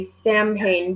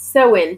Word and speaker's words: Samhain: Yeah, I every time I look at this word, I feel like I should say Samhain, but it's not. It's Soin pronounced.